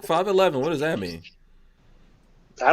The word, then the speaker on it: 5.11: I call it 5 I've always called it 5.11 but everyone says I'm not supposed to say the dot the dot is silent but I think I'm